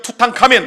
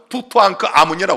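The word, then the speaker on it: 투탕카멘: 우리가 일명 투카멘. 그러지만 정확한 발음은 투토앙크 아문이라 그럽니다.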